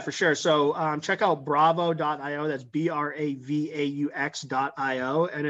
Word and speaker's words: Bravaux: Bravaux. It's the French play on Bravo.